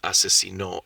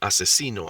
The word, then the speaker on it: asesinó: Now this one, it's supposed to say mató a 6 personas, también asesinó a su suegra. That's what it's supposed to say. But without the tildes, the stress falls into a different syllable.